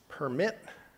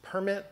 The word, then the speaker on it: permit: are two different words the stress pattern on the syllables differs this is permit and this is permit the verb is usually permit the noun is usually permitting strong weak and that's something that